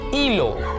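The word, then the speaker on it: hilo: धागा, एल ई लो, एच है तो भाई एच साइलेंट होता है, फिर से बता दूं कि जब भी स्पैनिश भाषा में कोई शब्द एच के साथ शुरू होता है तो पहला शब्द एच, पहला जो लेटर है एच, वो हमेशा साइलेंट होता है, उसके बाद से शुरू करते हैं तो ये क्या होगा, ई लो, एल ई लो, और एल और ला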